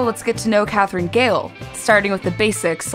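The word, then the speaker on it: Gehl: last name correctly it's gail is that right gail just like the woman's name and you're originally from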